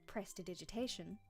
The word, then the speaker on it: prestidigitation: People can't say this one because it's a difficult word, but you pronounce it prestidigitation.